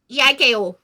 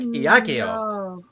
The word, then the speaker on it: Eiko: Eiko. Nothing? You said that real weird. No, that's how you spell it. Eiko. I know. But you were like, Iakio.